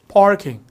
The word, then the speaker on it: parking: 요것도 이제 발음이 파킹이 아니라 이게 미국 가면 parking, R 발음 세게 합니다. park. 다 같이 해볼까요? 파 한 다음에 R 이렇게 더 꺾어서 parking 이렇게 하시면 오, 잘하시는데요?